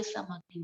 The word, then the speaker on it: Samagni: So pronunciation Sam Agni, Samagni.